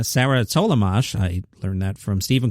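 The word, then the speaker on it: Tollemache: I found out how to pronounce her name, Sarah Tollamache.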